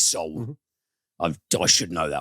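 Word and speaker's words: Seoul: uh sew soul seal so it is soul i've i should know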